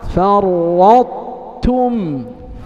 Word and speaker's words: فرطتم: إذا نسمع منكم هذا المثال الأخير: بسط بسط بسط بسط، أحط أحط، فرطتم فرطتم فرطتم. فرطتم. إذا كأنك ستنطق طاء فرط، لكنك تختم بتاء تم، فرطتم فرطتم فرطتم.